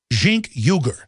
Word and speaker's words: Cenk Uygur: Jink Uyghur.